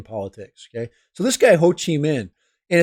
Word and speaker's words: Ho Chi Minh: guy right here this guy is name is Ho Chi Minh that's how you say his name Ho Chi Minh's kind of the grandfather of communism in Vietnam